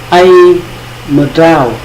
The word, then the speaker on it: Aê mdrao: Từ thứ nhất, ai mờ trào, ai mờ trào có nghĩa là gì?